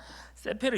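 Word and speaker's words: ספר: 읽을 때는 요렇게 읽습니다 요렇게 이쪽에서부터 이렇게 있습니다 세페르 여호와라고 읽는데 여기서 책이라고 번역한 세페르는 남성 단수형입니다 뭐라고요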